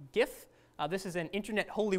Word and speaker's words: GIF: the street is that the original developers wanted it to be pronounced like the peanut butter because they said like